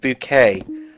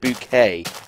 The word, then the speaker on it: Bucket: and upper class that she makes people pronounce it bouquet even though it's spelled bucket so Christmas right you're